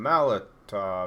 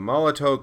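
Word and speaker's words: Molotow: But yeah, it's called the Molotov Chrome Pen. Molotov, T-O-W, but I think it's like a German term, so they call it Molotov because they pronounce their W's as V's.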